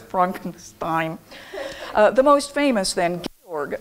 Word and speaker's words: Frankenstein: be Georg, and I'm sorry, I'm inadvertently saying Frankenstein because we all know why, of the Mel Brooks movie. Naturally, it is correctly pronounced Frankenstein.